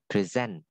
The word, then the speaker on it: present: Present. Đó, cái trọng âm nó nhấn là present.